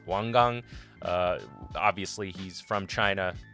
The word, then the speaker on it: Wang Gang: it wang gang it's wang gang uh obviously he's from china that's the chinese pronunciation of how to say that uh my bad so